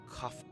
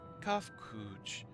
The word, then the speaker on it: Kafkuj: As for nomenclature to address my individual person, I believe it would be pronounced Kafkuj. Yes, Kafkuj of the Ia.